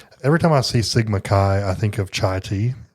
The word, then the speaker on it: Chi: No, it's Chi. Sigma Chi. Good. And then Delta Upsilon. Upsilon. So, Yeah. every time I see Sigma Chi, I think of chai tea, you know?